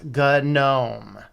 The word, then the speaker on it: GNOME: yes according to now either one is an acceptable pronunciation but it was good gnome they accept either one